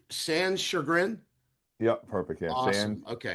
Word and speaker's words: Sanschagrin: Chad, make sure I'm pronouncing your last. It's Sanschagrin.